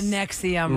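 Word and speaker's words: NXIVM: IVM in the documentary I think that's Nexium oh Nexium right because a v is a u and it was Alison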